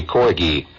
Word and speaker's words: corgi: Is it corgi or corgi? With a hard G or a soft G? Did she say there? I can't. Hard G, corgi.